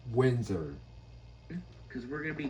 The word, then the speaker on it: Windsor: Windsor, not Windsor. Windsor.